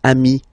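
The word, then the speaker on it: amis: s here okay but then technically you pronounce it the same way so singular form Ami plal form you add this s but it's Ami as well okay in that case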